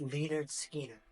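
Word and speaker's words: Lynyrd Skynyrd: The name of this album is pronounced Leonard Skinner.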